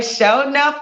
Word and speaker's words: Shonuff: I mean, they was breaking it down in syllables. Sure He was like, SHONUFF. Wow. Yeah. And that's me, SHONUFF.